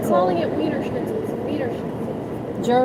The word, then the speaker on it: Wiener: No, it's Vener. I'm not calling it wiener schnitle. Vener. German would be the W is a V pronounced like a V.